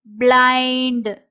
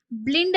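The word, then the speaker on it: blind: அப்போ பிளை இட் பிளைண்ட் பிளைண்ட். ஸோ இங்க ஐஎன்டி ஐண்ட். Suppose இதை ஈன்னு நான் நினச்சிக்கிட்டேன் அப்படின்னா இண்ட் அப்படின்னு சொல்லி வரும். பிளிண்ட் அப்படின்றது வந்து இதுல தப்பு. ஸோ பிளைண்ட் அப்படின்றது தான் இந்த வேர்டோட கரெக்டான உச்சரிப்பு.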